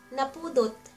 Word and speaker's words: Napudot: Napudot. Na pu dot Napudot It's hot.